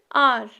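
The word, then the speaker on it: hour: Next example आर। जब आप आर पढ़ते हो ना तो एच साइलेंट रहता है और वर्ड किस साउंड से स्टार्ट होता है? ओ से, एंड ओ इज़ the vowel.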